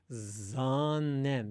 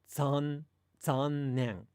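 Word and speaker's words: 残念: At the beginning of a Japanese word, if a Japanese word begins with Z and there's no preceding sound, you actually say it kind of like the Z in pizza. So if I say the word for unfortunate, like zannen, if you listen carefully to a Japanese person say that, they won't say like zannen. They'll say zannen.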